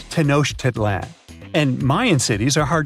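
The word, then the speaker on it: Tenochtitlan: It's tanoshedlan. And Mayan cities are hard to pronounce too.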